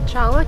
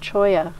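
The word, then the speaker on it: cholla: Chawla cactuses? It's pronounced Choya.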